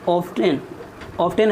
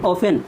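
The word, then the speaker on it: often: आई ऑफ्टेन है, लेकिन इसमें टी जो है साइलेंट है। ऐसे वर्ड में टी साइलेंट है। आई ऑफन mistakes, I am only human, आफ्टर ऑल आई एम फेबियल।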